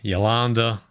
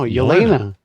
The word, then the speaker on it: Yelena: I call it Yolanda. Yolanda. No, Yelena.